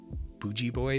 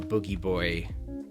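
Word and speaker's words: Booji Boy: o o ji and everybody calls him bougie boy but it's actually pronounced boogie boy that's for like it's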